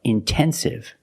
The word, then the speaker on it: intensive: If you have a stress after the NT, if you have a stressed syllable after NT, then you have to pronounce the T. Example, intense. I put the stress after the NT, so I have to pronounce a T. I cannot say immense. No, it's intense. Or words like intensive, intoxicated. We have the stress after the NT. We pronounce the T like a pure T.